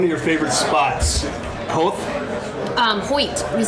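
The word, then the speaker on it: Howth: here now one of your favorite spots um hoyt which is how you say it by the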